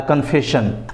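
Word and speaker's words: confession: तो कन्फेशन में भी देखेंगे कि लास्ट में SION है, तो यहाँ पर भी शन होता है, कन्फेशन।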